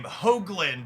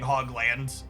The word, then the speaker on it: Hoagland: Hoagland with a long O sound is my last name. But honestly, as long as you're not saying Hogland, it's whatever.